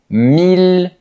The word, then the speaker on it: mille: Mais il y a des exceptions pour lesquelles on devra dire il. Par exemple, dans les mots mille ville ou tranquille. Ce sont les plus importants.